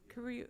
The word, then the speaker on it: Kariu: Kariu or Karu? Kariu. Okay.